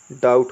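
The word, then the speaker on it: doubt: लिखे तो इसको हम डीओ यू बीटी को क्या पढ़ने वाले हैं डबड नहीं जो हम इसको उच्चारण क्या होगा डाउट होगा कुछ इस प्रकार से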